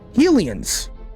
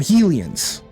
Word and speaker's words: Hylians: That's like, Hylians. Hylians? Hylians. Yeah, they're Hylians. I always pronounced them Helians when I was growing up as a child, reading it on the television screen, playing Ocarina of Time.